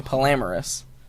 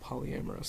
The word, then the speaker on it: polyamorous: saying it wrong yeah you're saying polamorous polyamorous polyamorous yeah um I'm trying